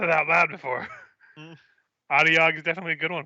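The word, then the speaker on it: Otyugh: The stench of sewer filth and garbage belches forth, heralding the approach of a loud and hungry Adiog.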